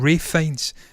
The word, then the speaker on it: Ralph Fiennes: Ralph Fiennes. That's what it is. It's weird. He pronounces the Ralph Fiennes.